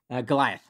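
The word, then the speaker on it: Golioth: Goliath. And it's spelled? It's like Goliath, the biblical character, except it's G-O-L-I-O-T-H.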